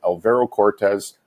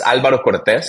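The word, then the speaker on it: Alvaro Cortez: So, it's you're actually spot on. It's Albero Cortez, so it has a little ring to it in Spanish, but the way you said it is perfect, man.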